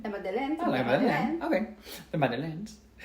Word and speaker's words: La Madeleine: La Madeleine. La Madeleine.